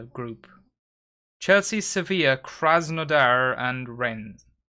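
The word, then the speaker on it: Rennes: chelsea sevilla krasnodar and ren reigns ren i suppose it's reigns you don't pronounce the s really do no chance severe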